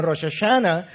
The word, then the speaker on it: Rosh Hashanah: El primer día del mes es la fiesta de Rosh Hashanah, lo que los norteamericanos pronuncian como Rosh Hashanah.